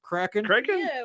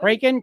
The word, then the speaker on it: Kraken: we all his his his pronunciation of Kraken cren cren Kraken Kraken it's Walgreens all over